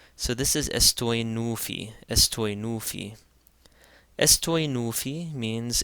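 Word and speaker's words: ⲥⲑⲟⲓⲛⲟⲩϥⲓ: And again, the theta is going to be pronounced like a T as opposed to a TH because it comes after a sema. So this is estoi nufi, estoi nufi.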